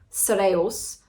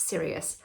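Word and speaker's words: Cereus: it was spoken phonetically I would assume by the way it's spelled c e r e u s so that that would be how you say it but it's serious so anyway that was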